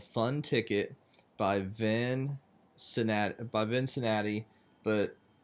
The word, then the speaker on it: Vincinati: My name is and today the park that we are looking at is called Fun Ticket by Vincinati, but it's not spelled like Cincinnati, it's spelled V-I-N-C-I-N-A-T-I.